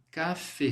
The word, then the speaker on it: café: No francês você vai ler assim, café, como se fosse o você.